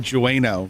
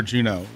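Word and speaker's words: Jeuno: Nothing is going to be better than when we Ninja streamed on Nasomi, and he said Jueno for Juno.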